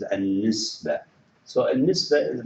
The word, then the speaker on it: النسبة: And in Arabic also we call it an-nisba. النسبة. Remember the ta marbuta, it would be if you stop here, you just pronounce it as without ta. It is النسبة.